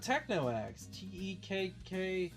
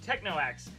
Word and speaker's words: TechnoAxe: out TechnoX.